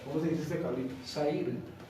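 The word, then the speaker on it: שעיר: Sair.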